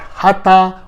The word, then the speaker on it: hatha: or pot but if you know a better word in english that closely sounds like hut please let me know